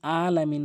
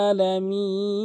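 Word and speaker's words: ٱلْعَٰلَمِينَ: লেভেলের ভুল করে রাব্বিল আলামিন বলে এই আইনের জায়গায় হামজা এনে উচ্চারণ করে আইনটি হলকের মাঝখান থেকে চাপ দিয়ে উচ্চারণ করতে হবে রাব্বিল আলামিন আলামিন আশা করি বুঝতে পেরেছেন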